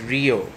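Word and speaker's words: Rhoeo: Our next plant is Rio. The spelling of it is R-H-E-O, not R-I-O, though some people say it wrong.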